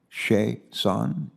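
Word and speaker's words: Chiasson: french name okay and the pronunciation is on that last syllable huh that's all thank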